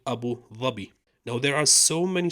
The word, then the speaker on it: Abu Dhabi: Arab Emirates is called Abu zabi I know it's pronounced in English Abu Dhabi but originally it's called Abu zabi now there are so